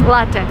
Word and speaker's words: latte: And don't say latte. This is like the worst thing I've ever heard. It's latte. Latte is Italian word. So, if you drink coffee, it's latte, not latte.